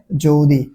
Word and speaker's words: যদি: এই অয়ের পরে রস্বই রয়েছে, তাই অয়ের উচ্চারণ কিসের মতো হয়ে গেছে? ও এর মতো হয়ে গেছে, তাই এখানে যদি।